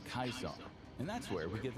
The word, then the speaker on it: Caesar: In the original Latin, the name would have been pronounced Kaisar.